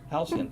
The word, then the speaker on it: Halcyon: How the fuck do you pronounce that? Halcyon? Halcyon, thank you.